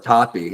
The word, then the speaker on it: Toppe: Well, you know, uh, Gregory, that's you know, it's toffee. It's hilarious because I was going to pronounce it as they do in Spanish, which